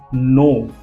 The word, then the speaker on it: know: First word is नो। ध्यान से देखिए स्पेलिंग KNOW। इसको हम कनो नहीं बोल सकते, कनो ये भी नहीं बोल सकते। बहुत सारे स्टूडेंट इसको कनो या कनो बोलते हैं, ये बिल्कुल रॉन्ग है।